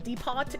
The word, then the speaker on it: depot: Uh, Deepot is the only correct pronunciation.